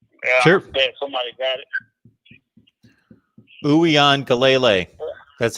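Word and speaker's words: Uiagalelei: Uyan Galele. That's how you pronounce his last name.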